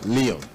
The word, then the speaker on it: Leon: But in the locality, there is that attempt to say that, well, it sounds like Lion. So the correct pronunciation of that name should be David Leon.